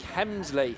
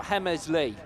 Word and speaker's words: Hemsley: Right, so we've been pronouncing Jake's name wrong apparently. So it's Jake Hemsley or Hemesley.